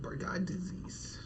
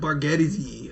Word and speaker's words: Bargatze: Oh, Bargatze, not Bargatze. Okay. You added so many syllables to that man's name for no reason.